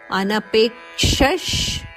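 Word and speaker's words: ಅನಪೇಕ್ಷಃ: ಪ್ರಿಯಹ ಅನಪೇಕ್ಷಶುಚಿರ್ದಕ್ಷ ಅನಪೇಕ್ಷಶುಚಿರ್ ದಕ್ಷ ಇಲ್ಲಿ ಅನಪೇಕ್ಷ ಪೆ ಮೇಲೆ ಆಘಾತ ಇದೆ ಪೆ ದೀರ್ಘ ಆನಂತರ ಕ್ಷ ಕ ಕೆ ಷಟ್ಕೋನಶದ ಒತ್ತು ಅನಪೇಕ್ಷಶ್ ಅಲ್ಲಿ ಬರುವ ವಿಸರ್ಗದ ಉಚ್ಚಾರಣೆ ಶ್ರಾಕೆಟ್ ಅಲ್ಲಿ ಕೊಟ್ಟಿದ್ದಾರೆ ಅನಪೇಕ್ಷಶುಚಿರ್ದಕ್ಷ ಶುಚಿರ್ದಕ್ಷ ಮುಂದೆ ಉದಾಸೀನೋ ಉದಾಸಿನೋ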